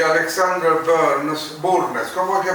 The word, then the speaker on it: Burnes: Arthur Connolly y Alexander Burnes, ¿cómo hay que pronunciarlo? Burnes.